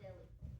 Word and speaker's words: Delhi: Okay, Billy, that's because you're not sounding the H. It's Delhi, not Delhi. Polly, the H is silent. It was right. It is pronounced deli.